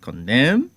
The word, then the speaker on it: column: have cops cetera well the silent n is equally realized as in some words like column column and column this sound